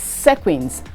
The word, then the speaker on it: sequins: make dresses for you it is sequins not sequins sequins is spelt s-e-q-u-i-n-s please be guided h-a-v-e-n